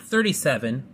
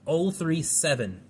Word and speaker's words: 037: We have the Lancia 037, not 37, or not 037, that's how it's pronounced, 037.